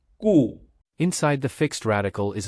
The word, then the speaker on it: 固: The pronunciation of 固 (gù),is similar to "good," so we connect these concepts to remember 固 (gù).